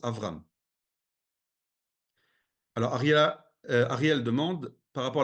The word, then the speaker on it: Avram: On doit prononcer Avram. D'accord? Pour l'instant, on prononce Avram.